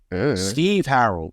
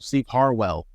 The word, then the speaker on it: Harwell: Steve Harrell. Steve Harwell. The hell? Just like, yeah, I was like, what? Steve Harwell. Okay. Well, then Jimmy Buffett actually just died.